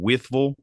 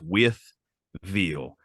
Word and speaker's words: Wytheville: I this is I'm I'm gonna keep saying wiffle because that's how we pronounce it but it's with veal w-i-t-h-e with e-i-l-l-e whistle or if you're really